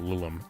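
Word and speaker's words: Lilim: either, but generally you want to call them Lulum. L I L I M is how that's spelled and I can put it in here in chap.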